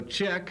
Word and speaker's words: Czech: Czech Republic yeah ok so check that's how you say that check check like you could write me a check would you all like